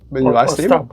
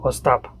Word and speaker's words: Ostap: your father sadie stop stop with the emphasis on the last okay so yeah so stop or stop and actually